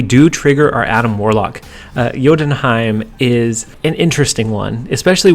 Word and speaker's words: Jotunheim: But hold on, we have the pronunciation, guys. And so in Jotunheim, did I get it?